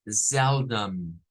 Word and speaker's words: seldom: forma También bien c miren con e abierta seldom seldom con seldom seldom